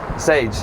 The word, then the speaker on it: Saige: it is yeah yes it rhymes with paige sage yeah and i spell